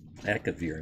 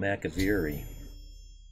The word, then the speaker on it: Akavir: Akavir. Now I was calling him Akaviri. Yeah, see, there's an I here. And he pronounced it without it.